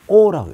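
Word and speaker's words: 惡: 이렇게 얘기했을 때 맹자가 이 악자를 써놓고 놀랄 때는 오라고 읽죠.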